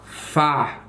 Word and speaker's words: Pho: Fa. Fa. Fa. Fa. Well, I know that's how the Vietnamese noodle soup is pronounced, even though it's written Pho.